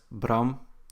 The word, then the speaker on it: Bram: P come from well Bram is my first name it's pronounced as Brahm in Dutch and the P is